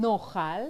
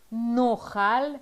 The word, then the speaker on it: נאכל: נאכל. היום. נאכל. היום. מה נאכל היום? Yes, it sounds strange, but that's because of the aleph and נאכל.